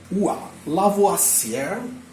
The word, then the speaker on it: Lavoisier: Mas, como fala Lavoisier, em francês, isto pronuncia-se Lavoisier.